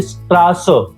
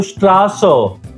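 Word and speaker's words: Straße: बहुत इंग्लिश के लेकिन इसका एक्चुअली में साउंड आता है डबल एस जैसा। जैसे कि थोड़ा लंबा अगर एस बोला जाए डबल एस कैसे बोला जाए? जैसे स्ट्रास डिस्ट्रास का मतलब होता है स्ट्रीट या तो रोड। तो स्ट्रास स थोड़ा लंबा बोला गया।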